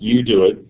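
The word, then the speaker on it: UDOIT: do it stands for it's pronounced you do it just like in the top of the slide and it stands for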